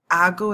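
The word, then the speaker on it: hago: They change the C to a G. Ago. Ago is how you say I do.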